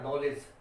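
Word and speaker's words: knowledge: जैसे KNOT नॉट पढ़ेंगे तो यहाँ पर के साइलेंट है, ये नो है। इसी तरह नॉलेज, इसी तरह ये वर्ड है, इसको पढ़ेंगे नाइट, तो के यहाँ पर साइलेंट रहेगा।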